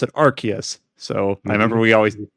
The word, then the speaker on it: Arceus: We'll talk about them later in the podcast, where they do pronounce it Arceus.